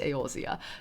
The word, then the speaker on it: Eorzea: It's pronounced Eorzea.